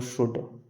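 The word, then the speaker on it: should: जैसे DFKL से पहले एल साइलेंट रखते हैं, जैसे कोडो, बोडो, शुड।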